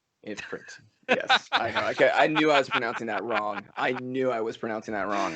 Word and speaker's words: Ifrit: it's Ifrit, not Infrit. Ifrit.